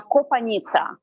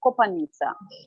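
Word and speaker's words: Kopanitsya: difficult for pronunciation because it's kind of uh from very typical old ukrainian means like river in the forest kopanika and now we pronounce like copaniza okay and my last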